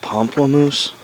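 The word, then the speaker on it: pamplemousse: why not h that's how you say it pomplamoose pomplamoose grapefruit and French can Spike Lee just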